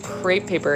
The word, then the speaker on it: crepe: his familiar is like crepe paper and he's like get the creepy paper and he keeps mispronouncing crepe paper is creepy paper Dave you just got